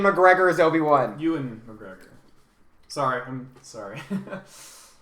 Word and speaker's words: Ewan: favorite because I love Ian McGregor as Obi-Wan. Ewan McGregor. Sorry, I'm sorry. I'm pretty sure he says Ian. No, it's Ewan.